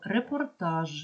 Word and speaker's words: репортаж: а не п або репортаж в кінці вимовляємо ж а не ш це перше друге буквосполучення